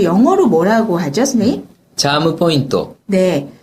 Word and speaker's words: チャームポイント: 영어로 뭐라고 하죠 선생님 차무 포인터네 차무 포인터 그래서 영어를 일본어 식으로 발음을 해 주시면 되는데요 뭐 이걸 일본어 풀어